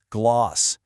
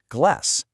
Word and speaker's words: glass: In the UK, you're going to hear that long a sound, gloss, but over in the US, it's more of a short a glass.